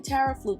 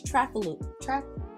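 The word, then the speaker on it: Trafaluc: Oh, I'm not even Tara Fluke, it's Trafaluk. Trafaluk.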